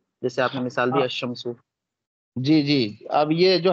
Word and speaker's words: الشمس: اور جب ایسے لفظ پر, ہاں دیکھیں, جب ایسے لفظ پر الف لام داخل ہو جس کا پہلا حرف شمسی ہو, تو الف لام کے لام کو حرف شمسی میں مدغم کر کے پڑھیں گے, یعنی لام کا تلفظ نہیں کریں گے.